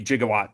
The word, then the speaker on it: gigawatt: Uh, so what the hell is a gigawatt exactly? Um, with due respect to Marty and Doc, it's pronounced gigawatt.